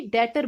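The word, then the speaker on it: debtor: जैसे कि इसमें बी की आवाज आ रही है तो इसको डेप्टर नहीं बोलेंगे, डेटर बोलेंगे।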